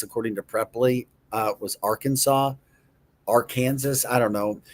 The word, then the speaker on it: Arkansas: Um you know, the number one mispronounced state in the country was our Kansas according to Preply. Uh was Arkansas.